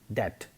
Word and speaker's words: debt: For instance, B is silent in doubt and debt.